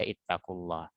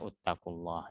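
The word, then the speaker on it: اتقوا الله: Ketika huruf ketiganya berharokat fathah, maka dia dibaca ittaqullah. Jangan kalian baca uttaqullah ya.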